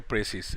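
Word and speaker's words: précis: तो ये हो गया संक्षेपण, ठीक है, प्रेसिस। लेकिन अगर इसमें ई जोड़ देंगे तब इसका मतलब हो गया प्रिसाइज। प्रोनाउंसिएशन में भी डिफरेंस है, प्रेसिस, और इसका हो गया प्रिसाइज।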